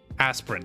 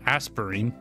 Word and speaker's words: Aspirant: it tastes pretty good aspirant that's how you say it not aspirin aspirin right sorry I mispronounced